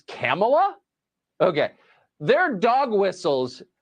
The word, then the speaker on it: Kamala: came to say thank you hey Cleveland it's camela okay there are dog whistles and then there